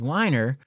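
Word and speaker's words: Weiner: model of attribution was whiner but his name is basically spelled like Wiener and so to print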